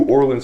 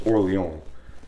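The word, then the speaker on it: Orléans: it's Orleans it's New Orleans for a reason okay I you don't even have to pronounce it like you're how you're supposed to which is oron just say Orleans I would have accepted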